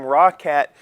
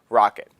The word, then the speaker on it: Roccat: accessories I called them raw cat because it is spelled r-o-c-c-a-t uh the way they actually pronounce it is rocket the things that I